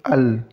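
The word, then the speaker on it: الله: Jadi cara membacanya itu ini alif tetap, kemudian lam sukun, al, kemudian disambung dengan huruf lam tanda baca fathah. Allah. Jadi langsung masuk Allah. Jadi lamnya ditahan 2 harakat.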